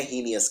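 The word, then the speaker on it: heinous: घिनौना यानी हिनियू एस ये स्पेलिंग नहीं है ही नियस की ही नियस की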